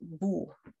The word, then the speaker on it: wo: in the camera, but my upper teeth touch my lower lip. So I would say wo. Yeah, that's how you pronounce it properly.